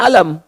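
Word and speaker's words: ألم: sekarang alif lam mim Tapi yang di alam nasyrah dibacanya alam Padahal dua-duanya sama bentuk hurufnya alif lam dengan mim yang satu Alif Lam Mim yang kedua alam tidak ada perubahan sama sekali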